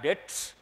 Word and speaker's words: debts: But here they have used toxic bad debts, B is silent.